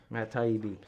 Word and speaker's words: Matt Taibbi: Matt Taibbi.